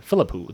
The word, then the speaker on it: Philippou: The how do you pronounce their last name? Philippou. The Philippou brothers.